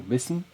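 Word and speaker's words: بسم: So, because of the preceding ba here, we do not pronounce this alif right here. And in fact, in this phrase here, the basmala, it is not even written.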